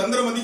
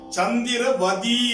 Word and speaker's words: சந்திரவதி: ஏன்னா இது நம்முடைய நாக்கு புரட்சியால் தவறாக உச்சரிச்சுட்டு இருக்கிறோம். சந்திரனாலும் மதினாலும் ஒண்ணுதானே. எப்படி சந்திரமதின்னு சொன்னீங்க? தவறு. மூல இலக்கியத்துல சந்திரவதி என்று இருக்கிறது. அதற்கு சொல்லுவார் பார்வதி, திலகவதி, குணவதி என்பது போல சந்திரவதி என்பதுதான் சரி.